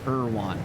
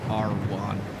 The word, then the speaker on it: Irwan: Irwan, not Arwan.